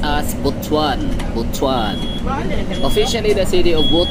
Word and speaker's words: Butuan: so Ako na bahala bwan City or bwan pronounced as botuan botuan Officially the city of botuan dakbayan sa